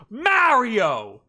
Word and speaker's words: Mario: It's me, Mario. It's-a me, Mario! He says his own name in the game. How could you keep saying it like that?